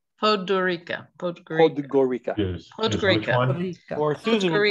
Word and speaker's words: Podgorica: Podgorica. How do you say it? Podgorica. Podgorica.